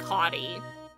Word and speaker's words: Hotti: Oh, his name is said like Hottie.